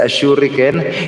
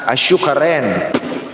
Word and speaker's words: Ashuriken: Instead, Ashuriken, yung pag-pronounce niya, Ashukaren. Ashukaren.